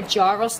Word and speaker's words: gyro: They're either called a gyros disc, a gyros disc, or actually the correct pronunciation is called a gyro disc.